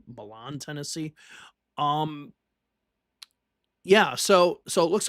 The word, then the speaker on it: Milan: It's in the South, so it's probably mispronounced in some way anyway, like Milan, Tennessee, when it should be Milan, Tennessee.